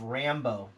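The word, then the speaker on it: Rambeau: And she plays Monica, and it's pronounced Rambo.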